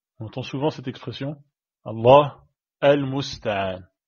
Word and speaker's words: الله المستعان: Allah al-musta'an. Allahu al-musta'an. Et avec la liaison, ça fait Allahul musta'an.